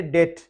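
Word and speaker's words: debt: पे स्टार्ट करते हैं डेट साइलेंट है इसको हम करेंगे डेट यानी कर्ज डेट कर्ज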